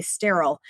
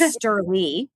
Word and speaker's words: Sterle: So it's not weird that people would say sterile. It's Sterle.